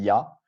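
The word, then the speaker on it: Я: air dans la prononciation ça se prononce il ya comme yak donc je vous ai fait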